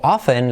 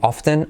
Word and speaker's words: often: Y luego often, la opción, como hemos comentado, de decir often o often. O sea, pronunciar la T o no pronunciarla. Yo particularmente no la pronuncio often. Do you go there very often? Yo diría que la mayor parte de la gente no la pronuncia often, pero también se puede